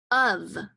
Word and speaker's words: of: like ah ah ah it sounds like uh uh of you know of like can I have two scoops of ice cream or we live in the United States of America that word of is spelled o F of and I go like